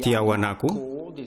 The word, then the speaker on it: Tiahuanaco: se ve el pueblo de tiawanaku esta es la pronunciación en español y tenemos a la